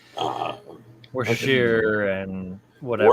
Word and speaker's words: Worcestershire: well, it tastes like all the shit that you put into it, like Uh, Worcestershire and whatever. Worcestershire? Yeah, Worcestershire.